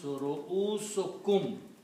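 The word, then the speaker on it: رؤوسكم: So when you combine these two, the word becomes ru'usukum. By combination, you pronounce only one dhamma here. So it becomes ru'usukum.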